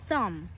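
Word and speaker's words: thumb: যেটাকে আমরা বলে থাকি থাম এটার শেষে কিন্তু একটা বি আছে বাট we don't pronounce it because it's a silent B letter word আমরা থাম্ব বলি না আমরা বলি অনলি থাম দেন দিস ওয়ান ইজ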